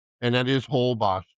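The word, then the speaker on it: Holbox: And that is Whole Boss spelled H O L B O X Boss.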